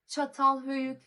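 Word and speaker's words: Çatalhöyük: Looking at how on God's goodness do I pronounce that? Chatal Hyuk.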